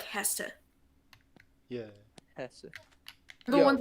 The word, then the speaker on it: Hesse: Oh, it's more like Hesse.